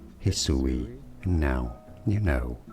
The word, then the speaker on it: Hisui: pronounce that name actually let's see how you pronounce it is how this region is to be said Hisui and now you know like And subscribe if